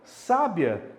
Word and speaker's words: sábia: Então, sábia também é uma paroxítona, porque o acento tônico, que também é representado graficamente pelo acento agudo, está na penúltima sílaba.